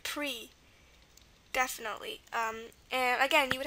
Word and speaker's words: prix: That's why you've got all those silent letters. Esprit and prix.